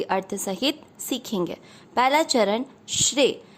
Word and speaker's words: श्रेय: पहला चरण श्रेय। श्रेय में श्र का अर्थ हुआ श आधा, श शंकर जी वाला वो आधा है और र है पूरा। र पूरे पर एक ही मात्रा, क्योंकि श्रेय में एक